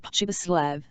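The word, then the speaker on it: Pribislav: with whom Hans Castp spoke was called hip privlav hiparity of this GVCN n was that you were to pronounce it as though it was spelled pubislav and the singularity of the appellation suited the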